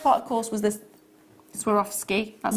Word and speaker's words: Swarovski: The first part, of course, was this Swarovski, that's how you say it.